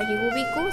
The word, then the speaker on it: Yigubiku: Al llegar al río de los perros, que en zapoteco se pronuncia Yigubiku, se encontraron con un fantasma.